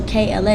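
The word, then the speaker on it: K.La: spin on kayla so kla is my real name the dot is silent it's supposed to be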